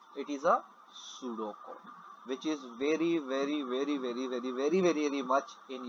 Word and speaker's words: pseudocode: It is not pseudocode, P is silent over here, it is a pseudocode which is very much in your CIP2.